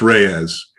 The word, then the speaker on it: Delos Reyes: tell me how to pronounce the last name delos reyes reyes okay um i i wasn't sure so blair delos reyes who is uh living currently in rexburg yep